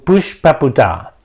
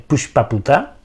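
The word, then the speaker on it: Pushpaputa: piensa que se escribe como se pronuncia pushp se escribe p u s h p a p u t a y se pronuncia Push paputa pushp este el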